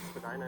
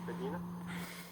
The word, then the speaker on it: Spadina: Ray says when you move to Toronto, you pronounce Spadina as Spadina. Yeah, until you hear it said a few times by other people for it to like click in.